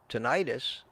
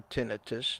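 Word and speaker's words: tinnitus: it's great I have tenius or tinitus depending in on your idea of the correct pronunciation it's pronounced both ways tenus I still have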